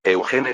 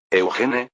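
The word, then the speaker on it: Eugène: Sin embargo, Eugene tenía una idea. Eugene, es decir, la pronunciación francesa de Eugene. Si se cambia este nombre al estilo alemán, queda así. Eugen.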